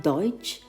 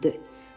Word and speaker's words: Deutz: Augsburg Germany in 1838 in German it's called Deutsch but in French it's called Deutz the salon is quite